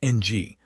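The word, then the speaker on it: ㅇ: The very same circle when it sits at the bottom of a block as a final consonant is pronounced ng like the end of the English word sing.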